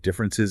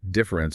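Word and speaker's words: différance: And when you speak it aloud in French, difference and difference are phonetically indistinguishable. They sound exactly the same.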